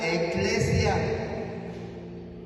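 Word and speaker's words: ecclesia: toda la escritura sí en el latín hermano la palabra iglesia se pronuncia eclesia en latín es iglesia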